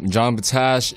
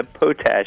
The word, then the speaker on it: Potach: that uh you know John Bach you know he's uh the activist we saying it wrong say your last name again John yeah potach is easiest potach potach even though I I'd say pot Mr John potach why